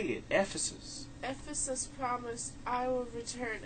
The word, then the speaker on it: Ephesus: Ephesus.